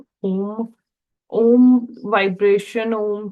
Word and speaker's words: ओम: मैं आपको सिखाने वाली थी कि ओम का उच्चारण कैसे करते हैं ओम ओम वाइब्रेशन ओम की जो ध्वनि है यह